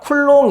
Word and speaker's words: 쿨롬: 우리 는 이것 을 뭐 라고 읽기 로 했었죠 ? 우리 는 그것 을 쿨롬 으로 읽기 로 했다 .